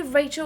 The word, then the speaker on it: Rachel: You can call me Rachel or. Oh, let me. Is it Rachel? Like the English pronunciation?